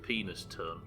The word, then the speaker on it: Penistone: Is it Penniston? Or Penniston? I guess they're very similar, right? Penniston. I've never read that one. Where is it? I had it as in like North Yorkshire. Where's Penniston? pronounced penis tone. Penis tuna. Where is Penistone? We're actually talking about obscure fucking Yorkshire towns now. Oh, not Yorkshire, British towns. It's near Barn, so it is in Yorkshire.